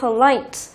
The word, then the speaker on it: polite: Câu 19, chúng ta có từ polite, tính từ có 2 âm tiết nhưng trọng âm lại rơi vào âm thứ 2.